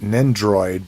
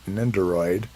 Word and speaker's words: Nendoroid: nindoroid is that i i always pronounce it nin droid but i miss this o in it ninderoid uh launching transformers so